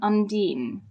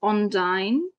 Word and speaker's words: undine: gave them names so this is called an undine and it's sometimes pronounced as onine or undine in English with an O at the beginning there have been ships